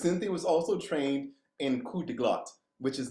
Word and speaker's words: coup de glotte: But coup de glotte, and I'm gonna spell that out. Silent P, hard T.